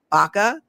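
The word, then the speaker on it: Baca: But Sheriff Lee Lee, but even well beyond Baka, is that how you pronounce it? Do you know if it's Baka? Yeah. So Lee Baka was also one of the speakers at this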